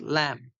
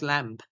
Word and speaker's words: Lamb: The last B is not pronounced. It's Charles Lamb. So do not say Charles Lamb.